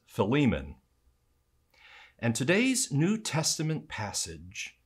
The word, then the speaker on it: Philemon: tell me that this new testament name is pronounced philemon i've also heard preachers and teachers pronounce it philemon or even philemon in fact one sunday i preached about the